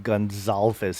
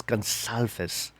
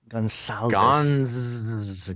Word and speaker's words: Gonsalves: We won't take make exception you with you pronouncing his name Gonzalez. It's Gonsalves. Gonsalves.